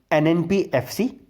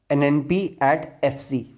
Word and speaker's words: NNPFC: We will pronounce in two ways, NNPFC, or the second way is NNP at FC. Okay, there are two ways, both are correct, NNPFC or NNP at FC. Both are the correct ways.